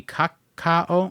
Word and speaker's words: Kakao: So thanks to Kako Entertainment, they just completely Would that be Kakao? Yeah, Kaka. Kakao K A K A O Kaka pronunciation.